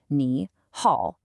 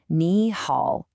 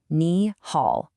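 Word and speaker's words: 你好: A super common mistake beginners make is pronouncing it with two deep dips. Kneehaul. It sounds clunky. It sounds unnatural. The correct flow is a rising tone followed by the dipping tone. Kneehaul. Listen one more time.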